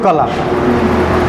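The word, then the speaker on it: قلم: এটা হচ্ছে সূরাতুল কালাম। সূরাতুল কলাম কলাম উচ্চারণটা কি করব? কফ নক্তাযুক্ত কাফ দিয়ে কলাম। নক্তাযুক্ত কাফ দিয়ে কলাম উচ্চারণ করব।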